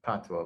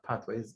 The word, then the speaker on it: patois: So when we don't own our language, we don't own, as we call it, patois, but as patois is really French in terms of its pronunciation.